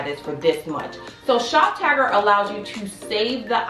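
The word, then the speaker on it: Shoptagr: Alright guys, next up on the list is ShopTagger, and it's spelled SHOPTGR, ShopTagger.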